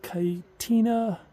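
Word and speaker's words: Kayenta: And the red there is called, I believe it's pronounced Kaitina level.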